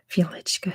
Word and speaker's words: Wieliczka: I believe it's pronounced Wieliczka salt mine.